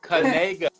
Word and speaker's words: Knigga: mean by that see that's the key it's kga there you go there you go now we